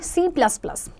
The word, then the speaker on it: C#: C hashtag. C hashtag is pronounced as C#.